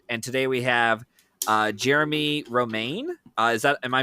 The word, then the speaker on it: Jeremie Romain: I'm your host Matthew Anderson and today we have uh Jeremy Roma. Uh is that am I pronouncing that correctly?